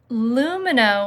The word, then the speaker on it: Lumineux: That's Lumino with an X. Lumineux.